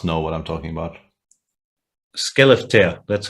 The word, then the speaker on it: Skellefteå: Skellefteå, that's how it's pronounced.